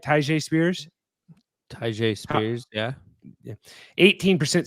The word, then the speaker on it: Tyjae: Tyjae Spears, yeah.